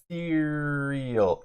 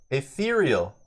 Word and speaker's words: ethereal: could blind him again etheral ethereal ethereal that's how you say it what is ethal versus ethereal saying it wrong yeah we're saying it